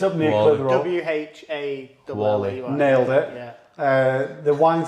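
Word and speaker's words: Whalley: Wally.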